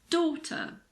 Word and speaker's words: daughter: The combination GH is usually silent after a vowel sound. Daughter, night, thought, through, way.